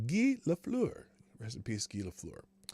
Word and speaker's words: Guy Lafleur: to the floor family that is how it's pronounced gi la fleur rest in peace gila skelefloor um let's see